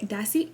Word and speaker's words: Dossier: the actual company and they said dossier and i was like i've been butchering this poor company's name for how long how long have we been collaborating and i've never said it right ever ever like ever so today's video is sponsored by dassey a not that the air dossier if you are unfamiliar